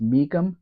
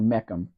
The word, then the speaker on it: Mecum: Is it pronounced Meekum or Meckum? It's pronounced it's Meekum.